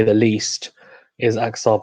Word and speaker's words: Axar: say the least is aksar patel or aksha but i leave and i should probably say his name properly because i know how to pronounce it properly akshay patel i'm just showing his